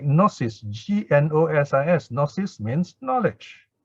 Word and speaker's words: gnosis: You get words like gnosis, G-N-O-S-I-S. Gnosis means knowledge, right? So this G-N comes from the same root here, and gnosis is the direct translation of jnana.